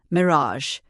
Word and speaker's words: mirage: And not waiting for Valency to give it up, he added, "Mere A and Marage, I R A G E is pronounced Mirage," said Valenci shortly, picking up her tea and her beans.